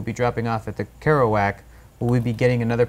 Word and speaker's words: Kerouac: I can't pronounce it. Like Jack Kerouac. Yes, thank you. If I say his name, I can say Kerouac, but if I try to read it off, like. Kerouac.